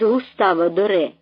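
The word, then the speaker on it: Gustave Doré: з дитям утікають у Єгипет це теж із густавадоре - спитав він цілком правильно вимовляючи ім'я Великого митця то ви що він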